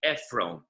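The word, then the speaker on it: עפרון: And that's why even though Ephron is spelled Ayin Pei Resh Vav Nun, but if you put the O vowel on the Resh, so you don't really need a Vav, and it'll still read Ephron.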